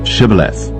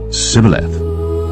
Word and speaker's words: Shibboleth: Then said they unto him, "Say now, Shibboleth." And he said, "Sibboleth." For he could not frame to pronounce it right.